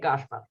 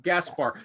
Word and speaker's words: Gašpar: Okay, and our friend, you tell your name so I don't mispronounce it. Go ahead. My name is Sara Gašpar. Sara, is that how you say it? yeah, yeah, Gašpar.